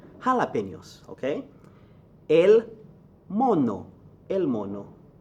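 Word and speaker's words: jalapeños: bien la he Rafa not child opinions but jalapenos okay El mono El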